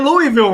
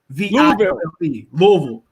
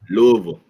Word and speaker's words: Louisville: And look, he said Louisville wrong. How you gonna get mad at me, bro? How you say it? Louisville. It's pronounced Luhlv. Louisville.